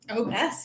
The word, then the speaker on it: Obec: Obec is how you pronounce it. Yeah, Obec. I didn't know So that. the reason why is it's Czech, Obec. Oh. And that's how you'd say it in Czech, right?